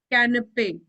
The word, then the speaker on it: canapé: Canapé. This A sound is coming canapé. because of this only.